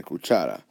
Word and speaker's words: cuchara: at school Chara again we count from right to left one to my voice normally goes up if they cuchara we pronounce a cuchara or cuchara okay we say cuchara the voice naturally goes right there therefore if it follows